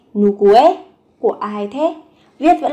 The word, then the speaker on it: 누구의: Từ ư ở đây được phát âm thành e.